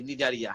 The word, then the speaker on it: Cnidaria: নিডারিয়া বানানটা কিন্তু এরকম, CNIDARIA, নিডারিয়া।